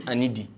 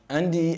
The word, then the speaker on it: Anadi: They have a funny way of pronouncing our names. My name is Anadi, but they're like, Andy, Andy.